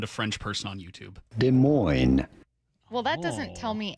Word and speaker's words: Des Moines: It's Des Moines. 253 S is pronounced here, not in Iowa.